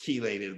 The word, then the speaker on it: chelated: Chelated? Am I saying it wrong? Chelated. I'm sorry. My wife's all it's written chelated with a CH, but it's pronounced chelated like a KEY.